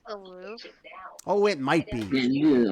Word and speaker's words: Louvre: It's actually like Isn't it pronounced the Louvre? Oh, it might be. You know me, I'm an actor. Unless someone writes the lines for me, I'm not going to get them right. Yes, the Louvre.